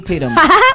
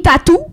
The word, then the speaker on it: Tatum: dit Channing Tattoo. ouais. C'est Channing Channing Tatum. Tatum. en fait.